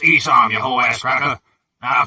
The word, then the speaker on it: Esau: It's pronounced Esau, you whole ass cracker.